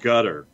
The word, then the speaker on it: Qatar: in the twitch pitch that um how it's pronounced in arabic and that's where people are saying maybe it sounds like cutter in that gutter yeah okay what okay no it's um boarding